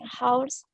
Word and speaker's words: hours: Mike sleeps for 8 hours every night. Oke, jadi ya ngucapin ini 8 hours. Jadi jam itu hanya nggak kedengaran, hanya nggak diucapkan ya.